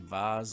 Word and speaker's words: vase: trees were printed in VARs or vase mode pronunciation depending on which country come from the original design